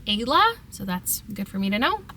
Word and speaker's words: Ela: And the pronunciation of Ela is actually Ayla, so that's good for me to know.